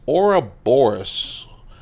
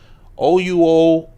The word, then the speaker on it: Ouroboros: Ouroboros. Ouroboros. That's for the pronunciation cops who frequent the channel.